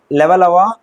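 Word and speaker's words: Levallois: இது லெவலாய்சியன் அப்படின்றது வந்து லெவலவா பிரெஞ்சு மொழி உச்சரிப்பு.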